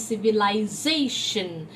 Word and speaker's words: civilization: civilized so same thing the moment i use a t ion ending in the back it becomes civilization the z is told more strongly it is the stressed